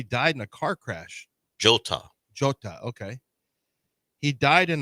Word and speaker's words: Jota: J is pronounced not for him. It's Diego Jota.